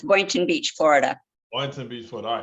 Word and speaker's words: Boynton Beach: beach Bates is that Boyton Beach is that how you pronounce that are you on mute yes that's Boynton Beach Florida Wellington Beachwood all